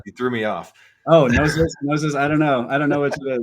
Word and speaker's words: Gnosis: So you pronounce the G. Okay, sorry. Yeah, you threw me off. Oh, Gnosis.